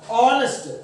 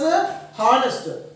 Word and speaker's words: honest: We have to pronounce this as honest but not as a honest. Honest అనకూడదా, హెచ్ అనేదాన్ని silent చేసి పలకాలి, honest అని పలకాలి, honest.